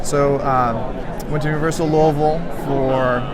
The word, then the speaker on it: Louisville: um went to Universal Louisville for notice how I have to eat marbles when I say that that's the proper way to say it it's Kentucky Derby weekend